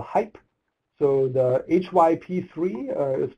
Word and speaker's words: HyP3: created a um processing system that we call hype so the hyp3 uh is pronounced hype it stands for hybrid pluggable processing pipeline it's